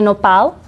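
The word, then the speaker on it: nopal: pear cactus in Spanish is known as the noal and some of you maybe eaten it how would you spell that n o p a l it's amazingly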